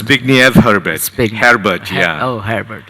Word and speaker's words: Zbigniew Herbert: pronounced? Zbigniew Herbert, Zbigniew.